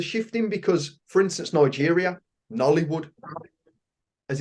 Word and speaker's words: Nollywood: And I know things are shifting because, for instance, Nigeria, Nollywood, as it's pronounced, Hollywood, Bollywood, Nollywood.